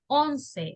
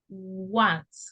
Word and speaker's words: once: The pronunciation of this is not once or ons, is once, okay?